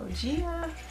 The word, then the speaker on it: GAEA: So GAEA. That's how you pronounce it, GAEA.